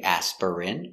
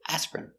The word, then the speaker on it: aspirin: very good example aspirin we don't say aspirin it's two syllables aspirin I take aspirin when